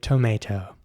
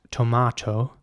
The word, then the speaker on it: tomato: Now, in British English, it is in fact tomato, and it's spelled Tomato in both cases. It's just pronounced tomato in British English, and in American English, it's pronounced tomato, which means the A at